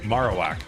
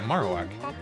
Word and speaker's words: Marowak: Yeah, Marowak. Like bone. Oh, is it like bone marrow?